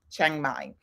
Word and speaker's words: Chiang Mai: how you pronounce it Cafe De Chang as in c-h-a-n-g but it's c-h-a-i-n-g Chiang Mai and this one is